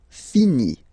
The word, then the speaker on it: finit: Il, elle finit. So I-T, final T, not pronounced.